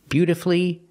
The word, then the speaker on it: beautifully: the U is silent the U is silent in these three words masterfully beautifully and wonderfully and it's true that